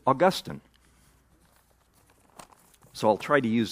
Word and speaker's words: Augustine: Which leads us to mispronounce his name, which is Augustine.